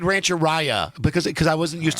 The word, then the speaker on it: Rancheria: you say I said Rancheria because because I wasn't used to seeing it and finally somebody said to me it rhymes with diarrhea yeah so for the